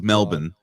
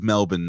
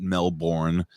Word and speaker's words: Melbourne: Australia and it is Melbourne it is Melbourne not Melbourne I was getting I